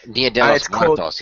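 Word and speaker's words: Día de los Muertos: They announced that they're still working on their Dia des Muertos, or how you pronounce it, movie. Dia de los Muertos, yeah.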